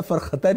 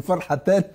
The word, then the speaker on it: فرحتان: فهو طبعا انه جريجي فبينطق الح خاء فقال له للصائم فرخه قال له لا فرختان يعني فرحتان مش يعني فرختان المشروع وده بيفكرني بواحد